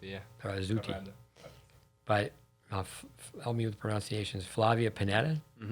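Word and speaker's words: Barazzutti: Berazzuti, yeah. Berazzuti. Corrado. But help me with the pronunciations.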